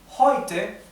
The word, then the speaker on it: heute: En alemán, siempre la E con la U se pronuncia hoy, hoy, ¿tá? Hoy. Entonces esto es heute, no es heute, no, heute. E con U es hoy.